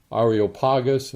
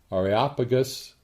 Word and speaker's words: Areopagus: to the ariel pagas this is pronounced in different ways and i'll probably pronounce it a number of different ways and mangle it a little bit but basically it's uh the ariopagas or areopagus but two of the more familiar ways that the more common ways that it is pronounced but you understand what